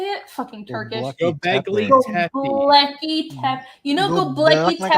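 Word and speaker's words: Göbekli Tepe: Gobekli Tepe.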